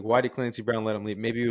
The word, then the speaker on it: Clancy Brown: And then I like that Claude Brown. Is that how you say it? Clancy Brown.